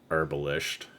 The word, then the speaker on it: herbalist: an herbalist sorry uh herbalist since we pronounce the h for some reason that is no that is not where the ha goes in that but um God [